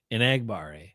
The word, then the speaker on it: Enagbare: Now, did you listen to Kingsley pronounce his name? Kingsley? No, I didn't, but I want to. Enagbare.